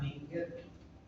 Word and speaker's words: Likert: La más utilizada es la escala Likert, que se llama Likert. Se escribe Likert, que en su esencia, en la